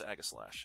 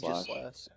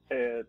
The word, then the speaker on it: Aegislash: How do you pronounce Aghaslash? It's Aegislash. Aegislash. Basically how you've been saying it.